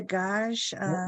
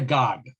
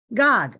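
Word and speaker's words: Gág: Is it Wanda Gage? Wanda Gog. Gog. Okay. Gog, right.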